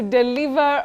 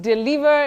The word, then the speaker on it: deliver: has one pronunciation bet in standard English or what you call RP received pronunciation you say d not D deliver to deliver delivery not deliver deliver common but wrong Betty you say to